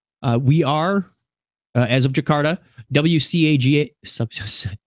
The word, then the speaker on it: WCAG: We are, as of Jakarta, WCAG, WCAG, believe is how they say it.